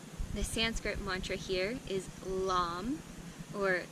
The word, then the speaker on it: LAM: The Sanskrit mantra here is LAM, or LAM, L-A-M.